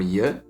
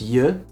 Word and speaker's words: je: But pay attention because je and jij, as you can hear, are pronounced differently, and the difference in pronunciation matters.